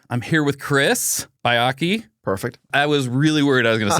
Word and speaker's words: Baiocchi: Most people say Baiocchi. Baiocchi, that's what I would have said. Yeah, that's the most traditional, although I get all sorts of like wild pronunciations.